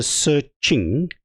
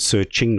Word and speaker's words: SearXNG: is I understand because the X I think was said to be a Greek letter pronounced as Ching H hence the search Ching it sounds you know